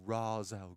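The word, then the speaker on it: Ra's: the bowl it would race Al ghoul or Razz Al ghouls Christopher novan likes different that's not how you pronounce it it's Raza particularly like that'd be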